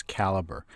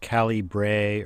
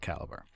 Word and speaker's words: Calibre: I'd like to point out that the the pronunciation is caliber you may hear it pronounced Callie Bray Orko libre but the creator of the program